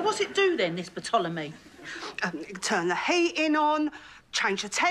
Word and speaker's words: Ptolemy: It's called Ptolemy. I don't think so. Says it right there. It's as plain as the lines on your face. The P is silent, as in psychopath, Sharon.